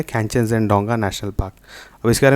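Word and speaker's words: Khangchendzonga: आपका ऑप्शन 1 है कैंचनजंगडोंगा national park, जिसको आप लोग कंचनजंगा नेशनल पार्क भी बोलते हैं, पर एक्चुअली उसका प्रोनाउंसिएशन जो है वो है कैंचनजंगडोंगा। और सेकंड है नंदा देवी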